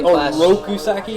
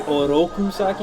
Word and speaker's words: Oroku Saki: it was on point the way he pronounces his RS were're not wasn't right he was say oroku saki it should be oroku saki if he was technically